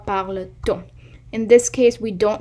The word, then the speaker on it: parle-t-on: If I said pourquoi parle on, it's not a good pronunciation. You always say pourquoi parle-t-on.